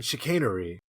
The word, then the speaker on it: chicanery: In the inevitable duel, Grushnitsky, via his seconds, dabbles in chicanery, involving the is that how you pronounce chicanery?